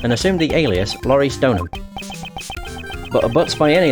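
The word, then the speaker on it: Deauxnim: I actually know how to say the name now. Because of the anime, the second season. Because obviously they cover Trial and Tribulations in that, and obviously they say the name. It's Donham.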